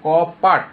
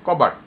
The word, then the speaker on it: কপাট: পটা এখানে উচ্চারণ ছিল কপাট, এটা উচ্চারণ না করে আমরা বলেছি কবাট।